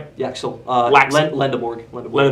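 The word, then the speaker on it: Lendeborg: It would be Luxembourg. Yep. Did I pronounce that right? Yeah. Uh Lindborg. Lend Lendorg.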